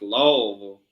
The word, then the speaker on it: Lowell: It's pronounced Lowell.